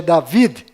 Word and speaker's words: David: menos sofreram mudanças foram Maria, que na verdade é Miriam, com M mudo no final, Rei Davi, que na verdade é David, com D mudo no final, e Jacó, que na verdade é Yaakov, com V mudo no final e a letra Y no lugar do J.